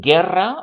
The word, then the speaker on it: guerra: If you want ge or gi, like in guerra or guitarra, guerra, war, guitarra, guitar, then you need to put in that u that no one is going to pronounce.